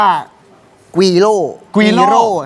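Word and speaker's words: güiro: เยอะ เลย ใช่ มั้ อัน นี้ เรียก ว่า กีร กร่ ครับ ตัว R จะ ต้อง ออก เสียง รัวลิ้น โอเค คน เรียก ว่า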